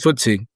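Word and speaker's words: FTSE: Nikk25 up over UK, is it Footsie? Am I pronouncing that right? FTSC. Yeah. Yeah. Footsie. Footsie.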